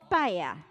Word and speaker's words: paella: Well, I try to pronounce it. It's paella.